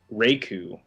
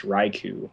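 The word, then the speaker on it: Raikou: that I said wrong I always said uh Raku for the second the legendary dog in second gen and it's raiku uh just like Raichu yeah no I I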